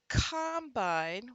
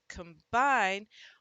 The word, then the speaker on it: combine: and we would say the combine was on the farm and was very useful during harvest the combine but stressing the other one combined when the second syllable is punched the first syllable often gets the schwa sound here so it's combine and teaching my students